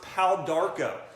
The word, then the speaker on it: Pau d'Arco: And then bitter herbs, Pau d'Arco. So you can do like a Pau d'Arco tea. That's spelled P-A-U-D-A-R-C-O, 2 words, Pau d'Arco.